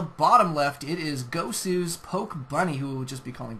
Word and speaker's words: Pokebuni: What a weird name, Pokebuni. No, I'm just kidding. It's Pokebunny. I'll say it right.